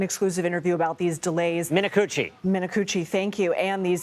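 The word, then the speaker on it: Minicucci: And you spoke with Alaska Airlines CEO Ben Min, you're going to have to pronounce his last name for me in an exclusive interview about these delays. Minuchi.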